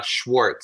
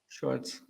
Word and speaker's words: Schwartz: right uh you're good uh Schwarz so it's German Schwarz oh nice nice so